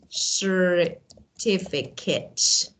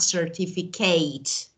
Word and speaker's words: certificate: Okay, but sometimes there are other words that they should be pronounced as at. For example, we say certificate, at, not certificate, or fortunate, not fortunate.